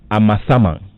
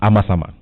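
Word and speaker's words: Amasaman: it's from yao in amasama that's the correct uh pronunciation isn't it informally known as amazama now hooray great club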